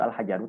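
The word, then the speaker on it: الحجرُ: ya oke si Mumtaz Jadi intinya Ya intinya alhajaru ya dibaca itu alhajaru kenapa Karena kaidahnya itu adalah jika alif lam bertemu isim atau kata benda maka harakat belakangnya Isim adalah dah itu kaidahnya ya emang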